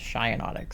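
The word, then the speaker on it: Shiinotic: Shinotic. Okay. I always figured it was like shinotic, like shiakei mushrooms, but everyone else pronounced this as shyotic, so I don't know.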